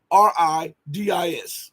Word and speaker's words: Stavridis: I can't pronounce his last name. It's Stavridis.